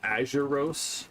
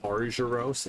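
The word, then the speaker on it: Arzuros: We said azuros because we didn't see the r in aruros.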